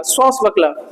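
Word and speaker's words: swashbuckler: तो हल्की साउंड देगा, श्वास बकल, श्वास, अबे श्वास नहीं है, श्वास बकल, आर साइलेंट है।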